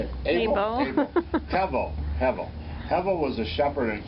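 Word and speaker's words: הבל: Hevel.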